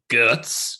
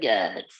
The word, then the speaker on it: GUHTS: of WitchKiss and GUHTS, which is how I've been saying it. That's the proper way to say it. Is it? Like guts. GUHTS, right? Yeah. You've got the H in there.